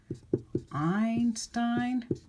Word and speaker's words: Einstein: you heard of Albert Einstein look he's got AI in both parts of both syllables of his name II I says I let's look at another